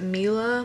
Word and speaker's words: Mila: to pronounce her name is it Mila Mila its mi la and I can't wait